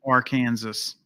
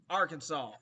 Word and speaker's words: Arkansas: the seagulls in arkansas it's our kansas arkansas look at how it's spelled r with kansas stephanie says wakita she